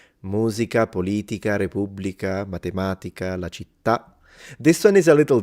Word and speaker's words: città: Musica, politica, repubblica, matematica, la città. This one is a little difficult for my wife to say when she's learning Italian, because the words that have an accent at the end in Italian, like città, identità, società, we kind